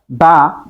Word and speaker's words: the: হল কনসোনেন্ট হল ভাওয়েল দা কনসোনেন্ট দি ভাওয়েল আমরা কনসোনেন্টের আগে উচ্চারণ করব দা ভাউয়েলের আগে উচ্চারণ করব